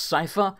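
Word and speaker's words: Seifer: ca now I've heard in Kingdom Hearts 2 he's pronounced Cipher I've always said CIFA so that's what I'm going to say if that bother you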